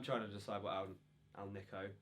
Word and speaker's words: AlNiCo: to decide what Al Al Niko as I now know it's pronounced speaker I'm going